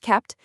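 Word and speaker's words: kpt: Caped, which is pronounced kept, is a tool that lets you bundle a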